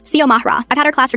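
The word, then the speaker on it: Xiomara: X I O M A R A. I get that it looks intimidating at first, but it's not rocket science. Sio Mahra.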